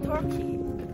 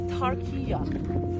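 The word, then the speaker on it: Türkiye: Ah sulat ng kanilang and take note we don't pronounce for to say Turkey. It should be Turkia.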